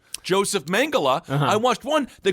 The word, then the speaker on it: Mengele: Yeah, it's like Mengele sounds like a fun vaudeville performer and Mengele sounds like a freedom fighter. It's Mengele.